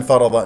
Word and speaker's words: فرض: معلومات فمن فرض هكذا ا الراء مفخمه من كلمه فرض لانها مفتوحه والضاد مفخمه مرتبه ثانيه لانها مفتوحه فرض فرض فيهن راسا ننتقل